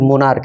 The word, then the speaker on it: monarch: ठीक है, यहाँ पे देखिए कि मोनार्क, MONARCH, भले ही ये CH से अंत कर रहा है लेकिन इसका उच्चारण क्या है, क है।